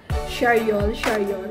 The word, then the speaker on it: Charriol: Ano ba ang pronounce ito ulit? Charyol.